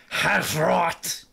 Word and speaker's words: Hrot: you still playing through half roth that's the correct way to say yeah patrol of a